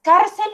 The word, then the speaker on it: cárcel: Entonces, cárcel o cárcel. Cárcel. No, el golpe recae en esta primera parte.